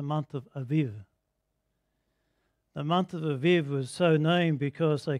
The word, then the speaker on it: Aviv: are in this in the writing so it's pronounced the month of the month of aviv was so named because they couldn't start the